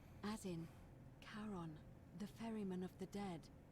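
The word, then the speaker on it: Charon: it's just as you described it only your pronunciation is a little off the name you heard wasn't karen it was c-h-a-r-o-n as in caron the ferryman of the dead in exchange for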